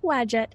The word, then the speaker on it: Wadjet: And that was how you say it, by the way. Oh. Wadjet is a patron of pharaohs and the races.